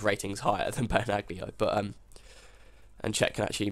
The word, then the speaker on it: Benaglio: It's because Benaglio, that's how you say it, is, I think, quite old for a keeper, although I think he's 32, 31, 32.